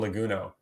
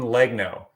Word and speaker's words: Legno: I always want to say Simone Leguno. Simone Legno.